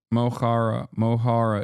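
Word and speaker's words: Mo Chara: Mohara is how you pronounce it. Mochara.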